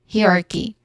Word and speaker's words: hierarchy: Hierarchy. The stress here is on the first syllable, hierarchy.